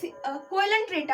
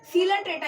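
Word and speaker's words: Coelenterata: देखिए, इसको अगर पढ़ेंगे तो इसमें क्या रहा है? कोयलन ट्रेटा आ रहा है, बट ये कोयलन ट्रेटा नहीं है, इसमें ओ साइलेंट रहता है। सीलन ट्रेटा इसे पढ़ा जाता है।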